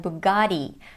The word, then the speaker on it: Bugatti: In American English though, it sounds like Bugatti because of the American flap T, which sounds like a fast D.